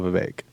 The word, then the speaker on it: Vivek: and he said, Vivek like cake.